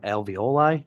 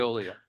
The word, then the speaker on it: Veolia: They were the ones that also, I believed when they wanted to private was pushing alveoli, if I pronounce that right, Veolia, It's thank you. Veolia.